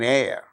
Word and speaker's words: heir: For instance words beginning with a silent H in the words hour, an honor, an honest man, an heir, an honorable man.